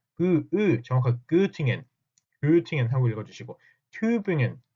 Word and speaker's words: Tübingen: 여러분들은 이제부터는 Göttingen 하지 마시고 발음도 정확하게 Göttingen 하고 읽어주시고 Tübingen, Göttingen 제발 그렇게 읽어주셨으면 좋겠습니다.